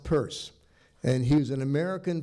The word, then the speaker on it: Peirce: It's pronounced Peirce.